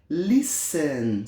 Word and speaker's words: listen: deduzir né license license tô tentando pronunciar a letra T uma letrinha muda nessa palavra né Então lissan significa escutar lição vamos